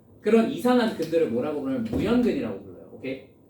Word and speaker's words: 무연근: 그런 이상한 근들을 뭐라고 부르면 무연근이라고 불러요. 오케이?